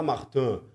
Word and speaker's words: Martins: Então, por exemplo, tem um piloto de Fórmula 2 que é o Víor Martins. O francês fala Martan, mas é muito arrogante falar Martin quando um sobrenome tão conhecido é Martins.